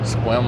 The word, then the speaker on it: Sequim: And if you're ever going to Sequim, is how I reckon how it's pronounced, Sequim, Washington.